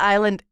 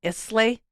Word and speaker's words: Islay: You know, a lot of people call that island Islay. Yes, in fact, I did for a long time until I was properly educated. So yeah, so it's spelled Islay. It looks like it should be called Islay. It's Isla. Isla.